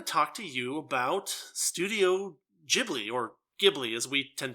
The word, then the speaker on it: Ghibli: It's actually pronounced Ghibli, so yes, deal with it.